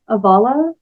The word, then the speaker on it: avala: is this idea of, I pronounce it like avala, and I think it's also avala, if you go by the pronunciation laid out in the book 1 of the Eastminster Library, which is the scripture